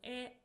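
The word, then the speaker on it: へ: Particle E. So this is a direction particle. It is pronounced as E but we write it as he.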